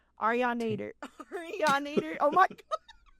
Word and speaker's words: Arianator: Arianator. Oh my god. So, it's like a Terminator, right?